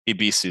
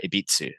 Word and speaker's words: Ebisu: Just Ibisu circuit. Yeah, No, like some people put T's in there too, like Ibitsu. I'm like, well, there's no T, bro. Or Ebis. It's like, no, you pronounce the U.